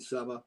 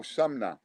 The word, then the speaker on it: Sumner: So, apologies, for getting your name wrong. I can see it ain't Summer, but there you go. Isn't it? No. Oh, Sumner.